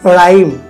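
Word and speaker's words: rhyme: Mary খারড আরেকটা হচ্ছে আর এর পরে যদি এইস হয় তাহলে এখানে এইচ এর উচ্চারণ হবে না যেমন রাইম রাইম এখানে এইচ এর উচ্চারিত হচ্ছে না আর এর পরে যদি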